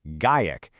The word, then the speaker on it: GAIEC: It comes from this new philosophy, a kind of creative code of conduct from a group called Gaic, and that's pronounced GaKek.